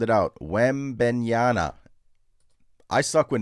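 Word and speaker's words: Wembanyama: Stewart says you're mispronouncing Wemby's name. Sound it out. Wembenyana.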